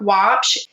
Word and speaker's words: Waupsh: Look at Watch. My last name is spelled w au psh and just reach out and message me there.